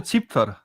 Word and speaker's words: Zipfer: It's called a Zipfer. It's the actual pronunciation is like dick. It actually sounds like you say dick, but it's not with an L at the end, but an R.